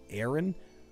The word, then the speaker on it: Aaron: It's pronounced Aaron. Are you...